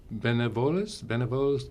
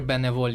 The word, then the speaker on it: Bénévole: Benevoles Yukon? It's Volunteer Bénévole Yukon. Bénévole is a French word for volunteer because we're in Canada, are bilingual English-French.